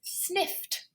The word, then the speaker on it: sniffed: Again, f is just using the teeth and the breath. So it's an unvoiced consonant, so it's sniffed.